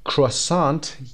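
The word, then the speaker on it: croissant: کروسانت، کروسانت خونده میشه اما میتونیم به شکل فرانسویشون ر رو تلفظ نکنیم و انتی رو هم تلفظ نکنیم در آخر و بگیم کروسان.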